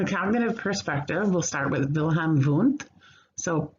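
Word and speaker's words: Wilhelm Wundt: perspective we'll start with wilhelm voont so spelled with w's but pronounced with v's 1932 to i'm sorry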